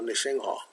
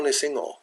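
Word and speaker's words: Nṛsiṃha: So, Rama, or Nisingha. But now it's all Nisingo. And all the Westerners, they hear Nisingo, and not Nisingha.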